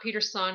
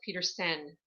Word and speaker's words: Petersen: My last name is spelled with an E-N. For all of those that are new to me, it is not Peterson, it's Petersen.